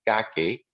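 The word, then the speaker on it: كعك: this is something called kake is actually the arabic pronunciation of it kind of a bagel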